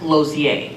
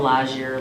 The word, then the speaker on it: Lausier: Well, my last name is Lausier, and it's Say it. pronounced Lozier. Okay. And I've been called Lazier, Lozier.